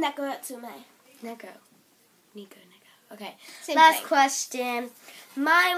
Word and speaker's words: Neko Atsume: No, it's that Nico...